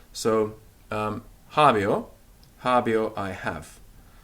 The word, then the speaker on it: habeo: o so javi Oh hobby oh I have and we mustn't overcompensate and put the accent on the air the accents on the heart so it's hobby or not a bear right javi Oh none